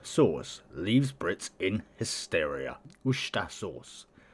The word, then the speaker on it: Worcestershire: Worcestershire sauce. Or Worcester. You don't really pronounce like the T-R-E. So it's just Worcestershire sauce.